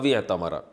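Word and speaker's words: اعتمر: उमरा करना औतमरा था मिला के पढ़ते हैं। अलिफ साइलेंट हो जाता है। अतमरा बस जो भी बैतुल्लाह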